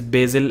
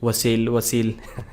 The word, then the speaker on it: Basil: So Basil has said many times that his name is Basil, and whoever is inviting him, Wasil.